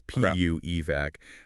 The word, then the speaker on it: PU-EVAC: Just a super quick pronunciation note for everyone listening. That's PU evac. I know it sounds a little bit like something a kid says when something smells terrible, but it stands for polyurethane and evacuation.